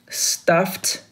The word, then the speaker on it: stuffed: Toy, stuffed, pay attention to this letter E and D, it pronounced T.